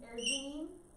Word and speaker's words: arginine: lysine, Arginine and and phenylalanine is how you say those.